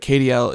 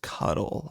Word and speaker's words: KDL: Um, but KDL is uh it's supposed to be pronounced cuddle.